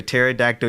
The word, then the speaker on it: pterodactyl: Because the P is silent.